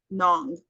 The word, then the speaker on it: Hmong: word they uh the Nong like it has an age in it but you don't pronounce the h so they're very they're